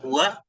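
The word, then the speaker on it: هو: Dan ini bacanya adalah huwa, pastinya huwa. Mengisi mabniyah, dia nggak akan bisa berubah. Bacanya adalah huwa.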